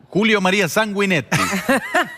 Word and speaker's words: Julio María Sanguinetti: Y bueno, Julio María Sanguinetti. Muy bien.